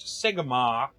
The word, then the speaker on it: Sigmar: It's pronounced Sigmar.